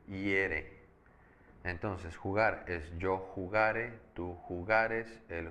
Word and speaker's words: jugare: Entonces, ojo aquí también, si yo digo yo jugare, fíjate cómo lo estoy pronunciando. La sílaba tónica es ga, jugare.